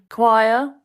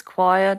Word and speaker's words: choir: those people who sing choir very good word for pronunciation practice choir doesn't look like it sounds spelled c-h-o-i-r very good